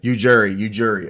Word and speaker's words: Ujiri: Because the J's not silent. Ujiri is what I call him, but Ujiri.